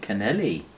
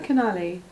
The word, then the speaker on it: Canali: Ooh, Canelli. Is it Canelli or Canali? It's Canali. Well, I'm pronouncing it how it reads. No, it's Canali. There's no E in...